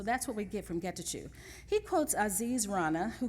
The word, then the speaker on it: Getachew: How do you pronounce his name? It is Getachew, thank you.